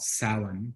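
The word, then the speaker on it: Samhain: a holiday um that most pagans today called salon pronounced pronounced salon but spelled s-a-m-h-a-i-n it's an irish word um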